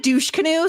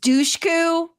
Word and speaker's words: Dushku: I don't know that that's actually how you say her name, but you've said Dushkanu so many times now that Eliza Dushku. I think it's just Dushku.